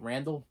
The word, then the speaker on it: Randall: right yeah can't hardly wait uh ethan ethan randle am i saying that right randall randall ethan randall and ed o'neill ethan something